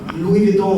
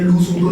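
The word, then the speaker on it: Louis Vuitton: आने लग गया कि मतलब भाई लुई विटॉन होता है, लू सूटन नहीं होता।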